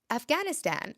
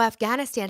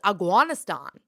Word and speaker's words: Afghanistan: beautiful roads and but the way he pronounced it was aanan I didn't know what he was talking about for the longest time aanan but yeah Afghanistan that's how he would say it zolof helped you you